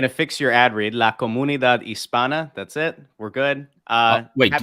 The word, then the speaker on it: La Comunidad Hispana: La Comunidad Hispana. That's it. We're good. Wait, give me that again? La Comunidad Hispana. You don't pronounce the H.